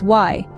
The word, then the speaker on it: y: on our list is why pronounced as the English letter e it's the Spanish equivalent